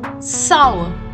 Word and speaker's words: sour: Sour. The R will be silent and the pronunciation of OU will be saw. It is not sour and it is not sore. It is sour.